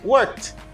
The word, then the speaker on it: worked: We pronounce ed as t. Worked.